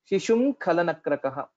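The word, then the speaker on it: शिशुं: ga gha nga, and hence the pronunciation would be shishum khalanakrakah. So we don't have to touch our lips while telling shishum. It is not shishum, shishum khalanakrakah. That's how we'll have to pronounce it.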